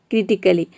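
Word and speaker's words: critically: लॉजिकली, फिजिकली, क्रिटिकली, तो इन सभी में आप देख रहे हैं कि ए के बाद डबल एल वाई आ रहा है।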